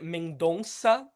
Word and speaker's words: Mendonça: Uh because his name is Cleber Mendonsa because we it's that C with a little snake underneath that we pronounce it kind of like an S.